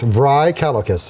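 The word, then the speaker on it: Vrykolakas: says my name is Count dry calcus count vry calicus and you can spell that I cannot and well barely can I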